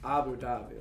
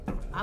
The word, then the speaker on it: Abu Dhabi: Like you say it together, like Abu Dhabi. Abu Dhabi. So I guess the H is silent. Or it's like No, say it. Dhabi, not da. There's a ha in it.